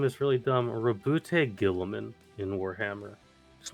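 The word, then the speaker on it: Roboute Guilliman: There's a man named, and his name is really dumb, Rabute Gilliman in Warhammer.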